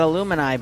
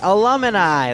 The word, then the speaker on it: alumni: it after you graduate alumni that's it no no no it's the illuminati it's not aluminium it's alumni yeah the illuminati yeah